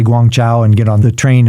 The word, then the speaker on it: Guangzhou: get a train up to Canton which is pronounced Guangzhou in in Chinese I thought I could just walk up to the counter and hand him some money and say Guangzhou and get on the train and all would